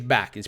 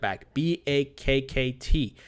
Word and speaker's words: Bakkt: we've been talking about backed or a bhakta I think it's back it's pronounced bak bak KT which is being launched